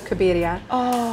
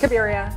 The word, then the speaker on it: Cabiria: cabiria that's fantastic almost it's actually very very on point it's after a felini movie from 1957 called kns of cabiria but you can do the American pronunciation which is kabia cabiria the one thing